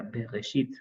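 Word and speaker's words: בראשית: En especial el texto bíblico tiene que pronunciarse según la tradición. Bereshit. En este caso sería Bereshit.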